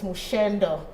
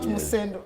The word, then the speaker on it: Musendo: director tells me it's Mushendo. Right? Mushendo. Yes. Mushendo, not Musendo. It's written as Musendo. And I'm sorry for that. No. Yeah, my director tells me it's Mushendo, the correct pronunciation.